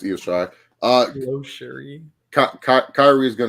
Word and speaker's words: Io Shirai: Even though he mispronounced Io Shirai's name like 5 million times and called her Lo Cherie, but it's okay. Lo Cherie, but it's Io Shirai.